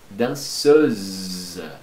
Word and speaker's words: danseuse: La danseuse. Lembra? Dois S, um S entre duas vogais. Som de Z, não pronuncia o final.